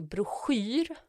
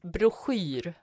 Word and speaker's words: broschyr: the sh, and then you have the worst vowel in the world, I. But there's also the O in there as well, which I never know how to pronounce too.